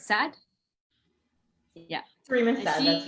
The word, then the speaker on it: Caryma Sa: Caryma Sa, she that's right.